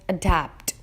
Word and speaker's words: adapt: Adapt is also a 2-syllable word. The stressed syllable in adapt is the second one, which is dapt, and it's pronounced as adapt.